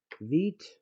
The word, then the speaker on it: Vite: As you can see, it's called Vite. Oh, I should say vite. It's a French word, French pronunciation that means quick, or fast.